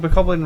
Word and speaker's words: Bokoblin: Like Bokoblin rhymes with goblin, so maybe it is right.